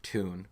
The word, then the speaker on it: Toon: to you guys for bringing back tune which is the correct way to say town but tune Army it